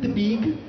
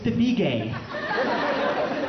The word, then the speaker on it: Tabigue: mom says it my mom's like you're not pronouncing it the Filipino way it's not the beig it's to be gay to be gay okay